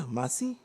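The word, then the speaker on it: Masai: And the the track I'm going to be transitioning to is called Stuck in Masa or Yeah, Masi. Uh it's spelled M A S A I.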